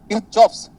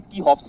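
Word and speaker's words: Kirchhoff: सुनो ध्यान से, किरचॉफ्स का जो प्रोनाउंसिएशन है वो गलत है, वो होता है कीहॉफ्स। क्या होता है? कीहॉफ्स। क्योंकि ये जर्मन बंदा है, जर्मन फिजिक्स वाला बंदा है, और उसमें आर को हम नहीं प्रोनाउंस करते। जैसे अगर कोई जर्मनी से कोई बंदा आएगा और बोलेगा मैंने तुझे पनीर पराठा दिया हुआ है, तो ये बोलेगा पनीर पराठा, आर नहीं प्रोनाउंस करते हम लोग।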